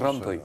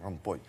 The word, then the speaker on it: Rompuy: Vous avez bien fait de souligner que ça s'écrit puis, mais ça se prononce Rompuy. Rompuy.